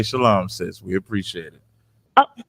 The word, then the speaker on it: Shalom: right instead of making instead of making a compound word of just Shalom they're pronouncing a sound that's not necessary to be pronounced okay yeah so that's